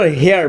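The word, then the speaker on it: heir: অ্যান বসবে, কারণ আমরা উচ্চারণ করি হেয়ার, ই দিয়ে উচ্চারণ করতেছি।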